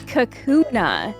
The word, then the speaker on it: Kakuna: Caterpie um this is Kakuna oh it kind of looks like a cocoon yeah it is a three syllable name I actually have never